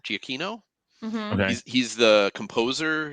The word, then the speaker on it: Giacchino: And I think what's really interesting to me is that it's directed by, and I always say his name right, Michael Giacchino. Giacchino.